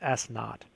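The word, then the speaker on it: s₀: S of t equals negative 16 t squared plus v sub 0, or v naught t, plus s sub 0, or also it's pronounced s naught.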